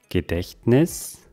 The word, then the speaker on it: Gedächtnis: Gedächtnis, das Gedächtnis. Das T hört man hier kaum.